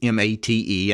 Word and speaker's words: MATE: actually an acronym it's m-a-t-e and it's pronounced mate the stress is on the first syllable and mate is actually